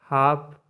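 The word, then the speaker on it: half: नो है ठीक है नंबर एट है L silent H ए एल एफ हाफ मतलब आधा एस एच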